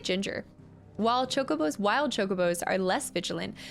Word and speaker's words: Chocobo: it a little bit I think it's Chocobo Chocobo I think you would say chalk more than Cho but I always say Chocobo um all right favorites